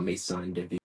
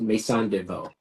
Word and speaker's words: Maison de Veau: Any event that's up to 150 people is called Maison de Vie, or no, actually it's Maison de Veau. I want to get that right because it's New Orleans style inspired, so they spell it Veau.